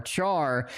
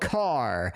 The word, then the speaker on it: char: We got Lover, we got Maruta, we got Character, otherwise known as Char. Have you pronounced it? But in the programming world, that's called Car. So there's Varcar and there's Standard Car.